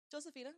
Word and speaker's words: Josephina: Josephina. I always Josefina. make everybody call me Josephina. That's my name.